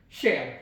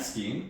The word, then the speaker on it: Skien: the one that is next to my hometown, Shen. Yeah. I'm curious, what do you know about Shen? Uh, I know it's now pronounced and not ski.